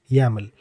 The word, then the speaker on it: YAML: be yml or yaml and we pronounce it as yaml so let's move on